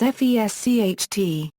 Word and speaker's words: Fescht: As in other Alemannic dialects, the pronunciation of S before T, and P is pronounced as FESCHT.